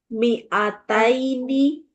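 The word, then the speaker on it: مِائَتَيْنِ: Mi'ataini sama mi'atun. Ya. Qur'annya loncat. Hati-hati mi-nya dibaca pendek.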